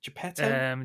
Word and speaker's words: Geppetto: I always get the guy's name wrong. Geppetto.